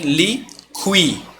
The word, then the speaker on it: liquidificador: Liquidificador, tá? Aí sim. Aí você tem liqui. O U e o I. Liqui. Você pronuncia o U e pronuncia o I.